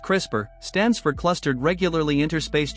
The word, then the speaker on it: CRISPR: Beyond what is crisper a crisper pronounced crisper stands for clustered regularly